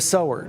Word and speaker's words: sower: they do the translation, it's spelled sewer, but it's not sewer, it's the sower.